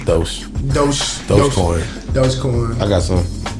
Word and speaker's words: Doge: It's called Doge. Doge. It's spelled Dodge, but it's Doge.